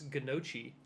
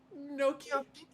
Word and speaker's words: gnocchi: I just like the little bit of G in the beginning of the gnocchi. Gnocchi. Like really just close your throat just a little bit before you say, you know what I'm saying?